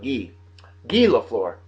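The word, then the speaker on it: Guy Lafleur: 61 years old today guy laflor I think he pronounced it gee GE laflor that's how he pronounced it in French he played for the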